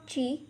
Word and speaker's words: ji: The first Pinyin is Ji, has a pronunciation of Chi. Repeat after me, Chi.